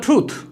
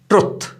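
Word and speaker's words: truth: एक और एग्जांपल लेते हैं, ही स्पोक द ट्रूथ, ये भी याद रखिए, मिस्टेकनली अक्सर हम इसको गलत प्रोनाउंस करते हैं ट्रुथ, तो ये लफ्ज ट्रुथ नहीं है, इट इज ट्रूथ, he spoke the ट्रूथ।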